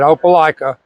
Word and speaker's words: Opelika: I'm the president of the opica pickleball Club yeah that's how you say it opala and um we have